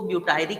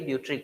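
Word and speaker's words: butyric: ठीक है, next IBA, B, indole कुछ लोग इसको ब्यूटायरिक कहते हैं, कुछ बच्चे इसको ब्यूट्रिक कहते हैं। अब आप पूछोगे सर आप क्या बोलते हैं, है ना? तो मैं इसको ब्यूट्रिक बोलता हूं, ठीक है, क्योंकि सही ब्यूट्रिक होता है।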